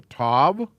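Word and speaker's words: ת: are the same letter they're called a tab last letter of the aleph bet and the sound is a t in both cases the difference being this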